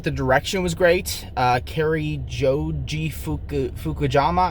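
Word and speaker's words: Cary Joji Fukunaga: direction was great uh carrie joji fukujama i believe is how you say his name uh he did a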